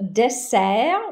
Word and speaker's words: dessert: Le dessert, don't pronounce the T.